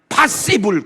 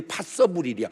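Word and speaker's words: possible: 파시블 그랬더니 파서블이야. 왜 C인데 써라고 그래?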